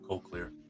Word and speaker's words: cochlear: I'd say cochlear. You want to say cocky or Co- cochlear? Hey Yeah. Google, what's the correct pronunciation of cochlear? It's cochlear.